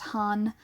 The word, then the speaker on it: 半: away from each other it's basically only ever pronounced han like there is another